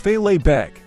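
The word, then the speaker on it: fèileadh beag: Lo and behold, the small kilt, or in Gaelic, filet beg, pronounced filet beg, was born.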